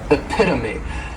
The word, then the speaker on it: epitome: next is epitome and this noun has four syllables and the stress is on that second syllable epitome this is a word that when you see it many times people may mispronounce it because the third syllable